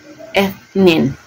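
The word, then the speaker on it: اثنين: Ang number 2 or dalawa is ethnin. Yan ang pagpo-pronounce doon.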